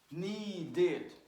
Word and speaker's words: needed: Needed, needed. So, look, want, one syllable. Wanted, two syllables. Ah. Need, one syllable. Needed, two syllables.